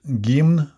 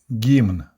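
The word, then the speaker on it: гимн: today's video we're going to talk about gima the anthem of the Soviet Union and it's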